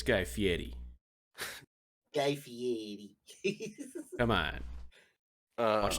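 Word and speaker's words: Guy Fieri: recruited um a a guy feres Chef named gristle Pete okay first of all say it right it's guy Fetti guy Fetti come on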